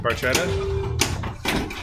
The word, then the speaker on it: Barchetta: Barchetta.